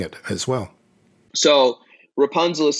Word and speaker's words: Rapunzl: So Rapunzl is spelled R-A-P-U-N-Z-L. It's like the fairy tale, except there is no E.